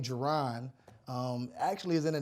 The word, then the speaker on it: Ja'Ron: I always tell people they say my name of course it's Geron a lot of people call me and I go by